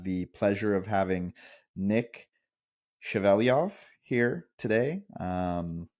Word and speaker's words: Shevelyov: pleasure of having Nick chaveliov here today um Nick did I say your last name correctly well pronounced Thank You I did my best